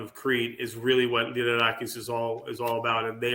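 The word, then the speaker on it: Lyrarakis: Liderakis. Liderakis.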